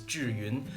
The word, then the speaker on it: Zhiyun: because I'm Chinese I know that the correct pronunciation is Julien the name consists of two Chinese characters means